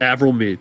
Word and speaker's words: Avril Mead: We've got a 47.0 set by the 87 of, I believe this is pronounced Avril Mead. Yep, Avril Mead.